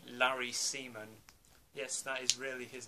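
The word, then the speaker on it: Larry Semon: and you also have larry seaman yeah as the scarecrow yes that really is how to pronounce his name from what i can tell and then this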